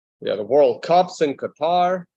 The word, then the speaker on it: Qatar: the World Cups in Qatar or Qatar is the proper way to pronounce it I like how everyone's